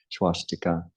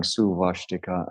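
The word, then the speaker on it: svastika: Su ashtika is the Sanskrit, su ashtika. That naturally drifts. There's a little glide that happens that makes you want to say a V, so it ends up swastika. So it ends up going suvashtika and then swastika in time.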